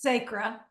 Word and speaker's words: Sacra: How can you pronounce your name? Sacra. I don't want to mispronounce it. It's Sacra.